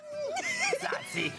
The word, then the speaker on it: tzatziki: Tzatziki. You gotta say it like that.